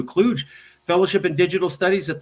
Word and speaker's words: Kluge: The only thing I would correct is it's pronounced as John W. Kluge Fellowship. Okay. It's not intuitive, so I wouldn't expect you to know it.